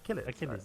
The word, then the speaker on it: Achilles: Achilles. I hope I'm pronouncing that right. I always say it wrong. Achilles. Achilles, yeah. Achilles, yeah.